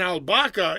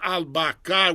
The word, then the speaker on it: albahaca: But an albahaca is very often it's misspelled, and they'll spell it as albacar, but it's not albacar with an R.